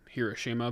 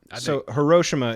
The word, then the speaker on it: Hiroshima: I think the Americanized English is Hiroshima, but Hiroshima is the I think that's how Japanese pronounce it.